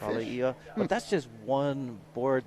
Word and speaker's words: Alaia: And oftentimes people are calling the alaya. Alaia, I think, is the better pronunciation.